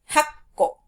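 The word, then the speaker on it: はっこ: The ko doesn't change, but it is the number that sort of gets shortened. So 1 is ikko, 6, rokko, 8, hakko, and 10, jukko.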